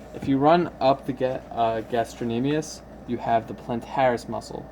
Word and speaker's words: gastrocnemius: So let me get the pronunciation right. Gastrocnemius.